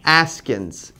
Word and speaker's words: Askins: Askins. A-S-K-I-N-S. Yep. Like asking with an S instead of a G.